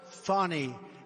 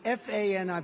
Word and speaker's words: Fani: It's actually pronounced Fani. It's F-A-N-I, but you pronounce it Fani, a little French accent there.